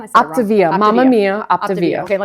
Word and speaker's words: Optavia: So, so let's let's talk back to like like So, so now you're with with Optiva. How you say it again? I said Optivia.